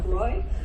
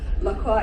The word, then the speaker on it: Lockroy: in typical British fashion we have butchered laqua into lroy Loa is the correct pronunciation if you would prefer